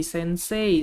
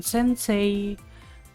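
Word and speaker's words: 先生: yang artinya film Hai ada juga Sensei nah ini yang sering kalian Mungkin seling sering denger ya Hai kalau kita membacanya tuh Sensei Sensei Sensei tapi sebenarnya yang baik yang benar itu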